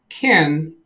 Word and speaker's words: Ken: Yes, on the Ken Stout live show yesterday, he corrected me on something else. The pronunciation of his name. He claims that it's pronounced Ken, like that.